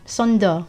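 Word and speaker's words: 썬더: Of course, its Japanese name was Thunder, but Sonda is how the Koreans will pronounce the word thunder.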